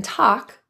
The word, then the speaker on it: talk: roof of your mouth the a in talk involves an open relaxed lip position I'll talk to you later feel how your lips are really relaxed as you say talk and the L is silent I'll talk to you